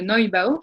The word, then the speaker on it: Neubau: Ce mouvement va s'épanouir à la Renaissance avec l'édifice que l'on appelle le Neubau, le Neubau, je le prononce à l'allemande, hein, le Neubau, qui veut littéralement dire le nouvel édifice, le nouveau bâtiment.